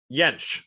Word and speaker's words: Jentsch: It has a J, but it's pronounced like a Y. Oh, have you been saying Jentsch? Yeah, that's okay. It's Jentsch because in German, the J sounds like our Y.